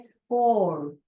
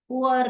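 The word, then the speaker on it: poor: British में इसको बोलते हैं पोर, पोर, पुअर भी बोलते हो आप लोग, पुअर करके बोलते हो।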